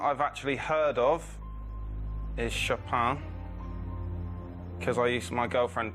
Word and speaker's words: Chopin: actually heard of is shoppin because I used my girlfriend plays the piano and I used to call him chopping I used to get the name wrong so I'll go for